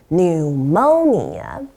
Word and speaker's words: pneumonia: 肺炎叫做 pneumonia，请小心字首的 P 是不发音的。